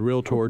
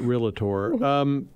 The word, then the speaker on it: Realtor: have a trademarked moniker called realtor two syllables ladies and gentlemen not realtor so real tours are